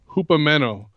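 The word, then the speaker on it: ὑπομένω: in the Greek is the Greek word 5278 pronounced Hoopa meno um and it means to abide so now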